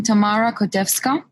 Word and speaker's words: Tamara Kotevska: this because i'm being a punk and not pronouncing your names well i don't want to butcher it so hi i'm tamara kodevska oh so welcome welcome first of all tell